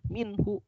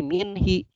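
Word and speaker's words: مِنْهُ: huruf jermyn nginepnya dari kalau dia ketemu Who maka tetap dia minhu darinya ya tidak berubah jadi min-hee enggak berubah jadi mimpi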